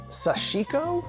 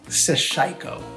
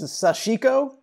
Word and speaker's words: sashiko: practice, sensibility, to use that word again, called sashiko. Like a not quite curious enough person, I've been pronouncing it wrong, sashiko.